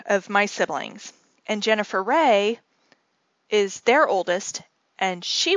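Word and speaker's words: Wray: And so Jennifer's middle name is Ray, and it's spelled W-R-A-Y.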